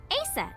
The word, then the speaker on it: Aset: But in ancient Egyptian, it's pronounced closer to Ise, or Aset.